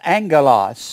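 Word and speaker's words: ἄγγελος: angel is this word a-g-g-e-l-o-s two g's pronounce angelos or angel they've translated to angel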